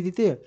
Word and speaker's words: the: দেখি এখানে দি অথরিটিস এখানে কিন্তু দি হবে উচ্চারণ দা নয় যখন দেখবেন যে এইরকম